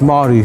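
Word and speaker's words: Māori: It's Maori, so Maori. The M-A-O is like a Moa.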